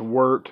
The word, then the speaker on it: wort: wort all over you wo RT supposedly pronounced worked but there's no way in how I'm gonna be sayin work work work so and then you're